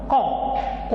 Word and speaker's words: ont: On, O-N, on, O-N-T. Même prononciation, on, mais ce n'est pas la même écriture, ce n'est pas la même orthographe.